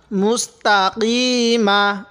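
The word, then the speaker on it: مستقيم: জের মিম জবর মা মুস্তাকিমা মুস্তাকিমা দেখুন আমি কফের উচ্চারণ কিভাবে করছি আপনারা কফ কাফের উচ্চারণ একই করে ফেলেন মুস্তাকিমা তো করলে কিভাবে পড়বো মুস্তাকিম এবার এখান থেকে মুস্তাকিম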